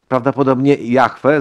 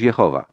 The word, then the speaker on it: Jahwe: haw albo haj być istnieć stawać się Samogoszcz Jahwe za chwilę Powiem na ten temat bardziej Jahwe niż Jehowa Dlaczego Jahwe niż Jehowa za chwilę Powiem dawały